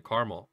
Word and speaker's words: caramel: Like, depending on how I'm referring to caramel, I may say caramel or I may say caramel. It really just depends on the circumstance.